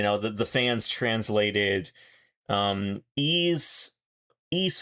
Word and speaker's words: Ys: Um, it's so hard to say ease. Nobody knows what you're talking about when you say ease. You got to spell it out and then they know.